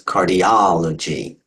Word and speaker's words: cardiology: If we change that a little bit to cardiology, okay, you break that into syllables, cardiology, count backwards, the ultimate, penult, antepenult. It's the O or the aw sound that gets the emphasis. Cardiology, cardiology.